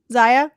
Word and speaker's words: Zia: Is it Zia or Zaya? Zaya. Oh, I'm sorry. I might have mispronounced. I have no idea. Yeah, it's Zaya.